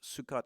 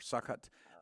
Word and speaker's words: Sukkot: They could have been in what's called, I don't know the correct pronunciation. I believe it's Sukkot or Sukkot.